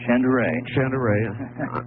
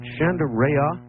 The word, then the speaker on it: Shandera: Now, Art, you're you're you're real close on my last name. It's Chandere. Chandere. Is it Chanderea? No, Chandere. Chandere. Chandere.